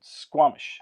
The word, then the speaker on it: Squamish: We're going to to I think you call it or you pronounce it Squamish.